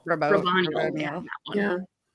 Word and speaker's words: Raboniel: I would have loved if there was more like interpersonal stuff with Navani and how do we pronounce her name? Raboniel. Raboniel.